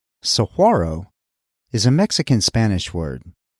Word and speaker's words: Saguaro: of videos about it it appears the proper pronunciation is Saro as opposed to Saguaro Saro is a Mexican Spanish word that doesn't appear